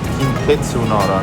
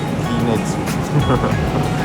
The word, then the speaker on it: Kintetsu Nara: Man sagt Kintetsu Nara, nicht Kinetsu.